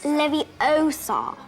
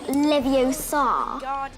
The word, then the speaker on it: Leviosa: for saying it wrong it's leviosa not leviosa dropping in at six